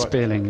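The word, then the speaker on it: Spéirling: for the McMurtry Spearling, is that the right? Spearling, yes. Spearling, yeah. I wasn't sure with an accent on there. I thought I'd better check to make sure that I wasn't getting it wrong.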